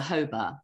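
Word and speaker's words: jojoba: well my favorite baseball is a hoba you know the one that's spelled j-o-j-o-b-a it's chemical composition it's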